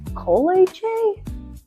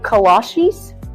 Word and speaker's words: kolache: What's a colache? Oh, cola cheese? Colache? Kolaches? Kolache? Like the shoes? No, that can't be right. It's kolache, but it don't matter what